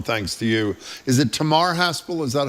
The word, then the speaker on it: Tamar: Is it Tamar Haspel? Is that how you pronounce it at the Washington Post? Tamar like guitar.